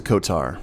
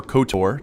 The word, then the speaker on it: KOTOR: this is rich welcome back to Kotar or kotor depending on how you want me to pronounce it sometimes that southwestern united states kicks in from time to time but we are here